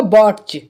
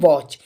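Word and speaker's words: watch: यहां पे बात करूं यहां पे टी साइलेंट होगा इसके लिए हम पढ़ेंगे वॉच तो दोस्तों इसी वीडियो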